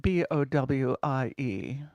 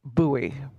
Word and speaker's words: Bowie: book the letters at b-o-w-i-e in Arizona refer to the town and it is pronounced buoy in the rest of